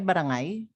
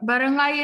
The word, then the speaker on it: barangay: book in barangay the is that right barangay right barangay is the archaic pronunciation yes he also AIMS